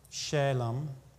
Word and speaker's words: Salem: the king of salem shalom is how it would be pronounced which is equivalent to the hebrew word shalom which means peace king